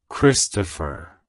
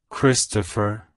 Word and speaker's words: Kristopher: Bearer it's pronounced as Christopher Christopher Christopher to pronounce it correctly emphasize the Chris at the beginning and the fair at